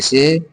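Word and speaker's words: سِ: ज़ेर के मात्रा के आ जाने से अब इस सीन को इ के रूप में के रूप में सी पढ़ेंगे।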